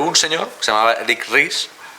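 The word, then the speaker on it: Ries: señor se llamaba Eric ris mucha gente lo pronuncia Eric rice no es Eric ris aunque tengas la tentación de decir Eric rice no eh Bueno pues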